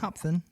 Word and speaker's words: Hopfen: It says, "Fun fact, the word Hopfen Hop It's It's What is it? Hop Hopfen? Hopfen? Hopfen?" I don't even know how How would you pronounce it? Hopfen.